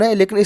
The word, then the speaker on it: whole: दोनों का उच्चारण समान है लेकिन स्पेलिंग अलग अलग है। ठीक है, इसको भी होल पढ़ते हैं और इसको भी होल पढ़ते हैं।